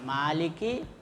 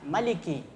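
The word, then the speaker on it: مالك: lagi kemudian Maliki ya Maliki ini bisa dua cara membacanya Ada apa pendek ada panjang jadi bisa Maliki bisa Maliki kalau Maliki itu artinya raja kalau Maliki itu artinya pemilik yang memiliki begitu juga yaumiddin jadi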